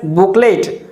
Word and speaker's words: booklet: giving information about something it is called booklet its spelling is b double o k l e t but it is wrongly pronounced as booklet by most of the speakers but it is not booklet it is booklet book lead booklet there should be stress or emphasis on the sound boo booklet booklet is correct booklet